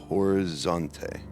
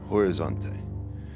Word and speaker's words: Horizonte: I spent most of my time in the state of Minas Jerus in the capital city of Bello Horante. Horizonte. Pardon me. I I'm not privy to Brazilian pronunciation.